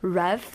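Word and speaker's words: ReVe: with a higher power called Rev, that's spelled R-E-V-E, in the SMCU.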